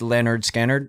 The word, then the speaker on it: Lynyrd Skynyrd: kind of like Lynyrd Skynyrd's first album was pronounced Leonard scanner and then Huston made the comment he's like